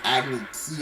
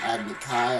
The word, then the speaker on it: Agni Kai: Also, I think they call the movie an Agni Key instead of an Agni Kai. I think that's how it's pronounced in the show.